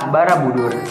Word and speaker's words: Borobudur: arti atas yang kemudian jika digabungkan menjadi kata Borobudur dibacanya Borobudur yang berarti Kompleks biara di atas Oke